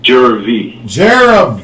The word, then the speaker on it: Jervy: Drop the second R from Jerry and put the V there. Oh, so how you pronounce that? Jervy.